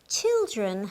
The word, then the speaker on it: children: and its plural children children has two meanings daughters and sons and girls and boys in general remember that the i in child and children are pronounced in different ways let's have a look